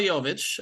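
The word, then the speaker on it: Jović: but he looks really good and that's Nicola yovich who it's taken me a year to pronounce his name uh of course yovich drafted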